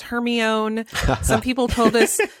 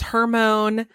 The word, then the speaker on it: Hermione: Like some people told us it was Hermione. Some people told us it was Hermone. Hermone. Yeah. It honestly wasn't until, I don't think it was until the movies came out that I learned the right way to say her name.